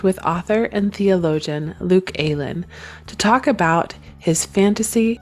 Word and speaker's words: Aylen: It's Luke Aylen, which is a bit of a weird pronunciation, so don't worry. No, Most people call me Alan, but I answer to anything.